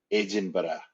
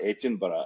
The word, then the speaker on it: Edinburgh: Scotland it and and you have to say this Ed and butter you've got to say it like that Ed and butter sounds like sounds like